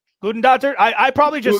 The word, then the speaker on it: Hildur Guðnadóttir: I'm sorry, I'm trying to pronounce it. The Joker. That is correct for 2 points. Hildur Guðnadóttir. Gudendottir?